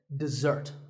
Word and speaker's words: dessert: word this is dessert notice that the first syllable is dead and the second starts with a Z sound we stress the second syllable dessert this word refers to